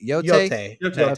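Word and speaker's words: Yōtei: which was Ghost of, is it they confirmed pronunciation yet? Yote. Yeah, it's Yote.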